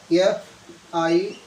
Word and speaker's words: fire: For example, if I write here F-I-R-E, fire. So I will write it like this. R is not pronounced.